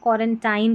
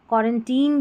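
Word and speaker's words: quarantine: अगर हमको कुछ नहीं पता होगा तो इसको हम क्वारेंटाइन पढ़ेंगे। क्योंकि अभी हमने आई का उच्चारण आई देखा ना आई फिर कंसोनेंट फिर इ। तो ये याद रख लें कि ये क्वारेंटीन जो है यहां पर आई का उच्चारण बड़ी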